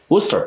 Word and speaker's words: Worcester: Worcester?